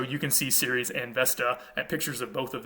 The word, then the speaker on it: Vesta: in the roman tradition this goddess's name was vesta originally that would have been pronounced westa um we get a